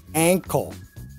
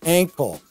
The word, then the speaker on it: ankle: Compare that with ankle, ankle. That's like the past of sing, sang. And we say ankle.